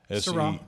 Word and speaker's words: Seurat: I might have pronounced that wrong. Georges Seurat? Seurat. It's Seurat.